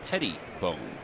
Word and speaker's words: Pettibone: But the correct pronunciation, as Jonathan told us the other day, is Pettibone, like Tom Petty.